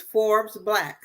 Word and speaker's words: Forbes BLK: think about joining, is Forbes Black. So Forbes, like the magazine Forbes Black, but it's spelled Forbes BLK.